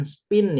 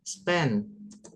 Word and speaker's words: spend: Kemudian nah ini bacanya kalau untuk menghabiskan itu bukan spin ya, Guys. Tapi apa? Spin. Spend.